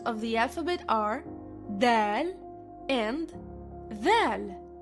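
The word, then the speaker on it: دال: The next letters of the alphabet are Dal and Dhal. Dal sounds like the letter D in English but softer.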